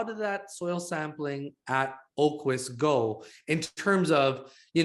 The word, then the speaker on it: Aqueous: And this most recent PR, how is this soil sampling at Aqueous? We pronounce what does it mean we pronounce it Oquis. I know it's a really strange spelling.